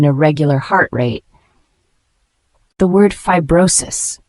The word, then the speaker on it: fibrosis: heart rate the word fibrosis spelled FIB b r r o s i s fibrosis is a noun pronounced Fe brosis it refers to a